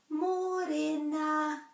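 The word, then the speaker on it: mōrena: Another one that's relatively commonly mispronounced is the Māori word for morning, which is a transliteration of the English word morena. So morena. More has got the macron. Morena, morena.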